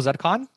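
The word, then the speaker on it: ZCON: So we would want to compare it to something like, you know, Zedcon. Is that how you guys pronounce it at BMO? Zedcon? Zedcon, yeah. Zedcon, yeah. Yeah.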